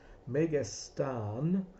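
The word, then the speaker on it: μεγιστάν: It's megastan with a long a at the end in the dictionaries.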